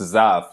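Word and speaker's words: Zapf: I was stumbling your last name, but it's Zaff, Z-A-P-F. I know it. Everybody has trouble pronouncing it, so you're like in the majority. Yeah, okay. It's pronounced just like Z-A-F-F, even though it's pronounced Z-A-P-F.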